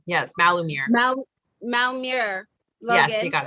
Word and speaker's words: Malumir: with malamar logan who is the am i pronouncing that right malamir yes malumir mal malmur logan you got it sorry sorry